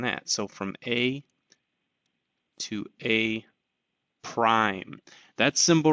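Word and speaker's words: A′: actually an apostrophe um so a apostrophe that's pronounced as a prime that means um it's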